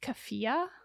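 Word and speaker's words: keffiyeh: the white girl accident I believe it's pronounced kefia Okay so anybody who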